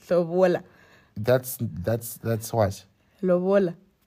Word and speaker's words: lobola: It's Lobola. Don't get English. It's not Lobola. It's Lobola.